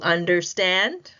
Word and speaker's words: understand: So you see this word do you understand? Understand, right? The primary is stand in understand, but the secondary stress is placed on the first syllable under.